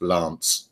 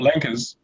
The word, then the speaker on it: LAANC: and in the thing it says Lanc pronounced Lance. So that Lance is not Lankers. No, it says it in the press. It's pronounced Lance, Lance, and then you look at this Laanc.